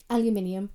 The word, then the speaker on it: aluminium: Aluminium. Aluminium. Oh my goodness. Because if you look at the way it's spelled, you can see how that how it how it's pronounced that way.